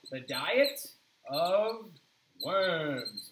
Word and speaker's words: Worms: So the diet of Worms, it's actually not like Worms, okay? Worms is actually a city in Germany, and we're also not even pronouncing it correctly, right?